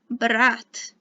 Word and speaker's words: брат: So brother is брат. If you don't like your brother, it sounds a bit like brat in English, but it sounds normal in Russian.